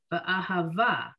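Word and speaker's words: אהבה: That's why when I read this word, ahava, I put the emphasis on the syllable immediately following where that double vowel appears, okay?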